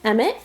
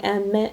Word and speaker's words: Emmett: So yes, I love the name Emmett, and it flows off the tongue, Emmett, and it's a 2-syllable just like the other boys.